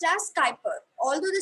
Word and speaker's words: Kuiper: call it as the kuiper belt it is pronounced as skyper although the spelling is u i p e r but we pronounce it as skyper so it's the kuiper belt okay yeah so